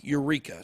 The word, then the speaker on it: UREEQA: It's UREEQA, Eureka. So that's actually how you say it.